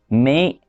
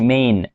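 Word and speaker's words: میں: مثال على كده كلمة مي. مي أنا بس بقول مي، ما بنطقش مين، ما بقولش مين، لا أنا بقول مي يعني أنا.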